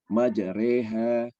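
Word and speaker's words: مجريها: Nah, kalau di mushaf Indonesia di bawahnya ada tulisan imalah, jadi artinya miring, dibaca miring, majreha.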